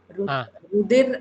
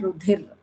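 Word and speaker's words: रुधिर: Rudir and Rudhir. So if you just make a pronunciation mistake, the whole meaning is changing. So it is very important that we actually get the Mahaprana, Alpapranas to get the correct meaning in Sanskrit, right?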